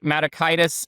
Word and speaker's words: Matakitis: matakitis, it's pronounced like hepatitis and menitis just since we're sticking with that medical theme.